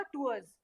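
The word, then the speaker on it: tours: तो यहाँ पे प्रोनाउंसिएशन इसका भी होना चाहिए, प्रोनाउंसिएशन इसका भी करेक्ट होना चाहिए। तो यहाँ पे देखो टूर सिंगुलर, प्लूरल क्या होगा, टूअर्स, ठीक है।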